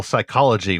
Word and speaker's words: psychology: Jasmine, I think now that Zach has made his alliterative points, I want to talk about your degree in clinical psychology, where the P is silent.